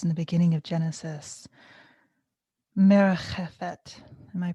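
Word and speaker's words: מרחפת: And that word that's used in the beginning of Genesis, merchefet. Am I pronouncing that closely?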